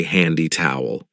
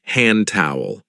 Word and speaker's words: hand towel: careful of the pronunciation we don't usually say handy towel we link it and say hand towel hand towel down there